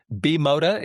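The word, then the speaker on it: Bimota: Is it Bimoda? Is it B-Moto? Is it what is it, right? So I've learned from experts, B-Moda is the preferred pronunciation.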